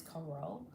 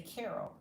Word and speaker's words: Carroll: But the way that you pronounce it is coro. And people will see it and and say Carol. And she's like, "What? Just call me Dr. because my name is not Dr. Carol.